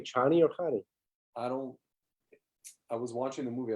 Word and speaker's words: Chani: It says it's pronounced as in China, so it's Chani.